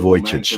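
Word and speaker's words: Vujicic: He's a remarkable Voyage. I wanted to hear how it's pronounced more than a decade ago.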